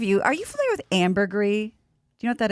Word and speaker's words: ambergris: comes from yeah amber i thought it's called amber grease well it has an s but i think it's pronounced ambergris yeah that was like french or something yeah so like pinot